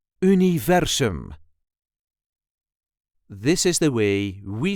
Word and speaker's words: universum: If you want to say universe in Dutch, you would say universum. This is the way we say universum. Universum. The emphasis is on the second syllable. Universum. U-ni-ver-sum. Universum.